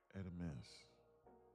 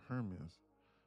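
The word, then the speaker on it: Hermès: Hermes. People think it's Hermes or Hermes. It's pronounced Hermes.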